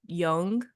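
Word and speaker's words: Jung: actually created by Carl Young juu n g young though I think is how it's pronounced and okay yeah corre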